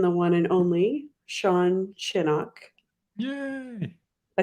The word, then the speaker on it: Shinnock: Like Gosh, the O sounds like it's Shinnock. Like you're saying it really fast. Sean But you got Shinnock.